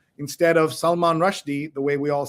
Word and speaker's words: Rushdie: Did you know that you've also been saying another name wrong? Instead of Salman Rushdie, the way we all say it, it's Rushdie.